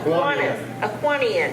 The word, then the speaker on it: Kiwanian: How do you say that? Are you Kiwanis. A Kiwanian. Yes.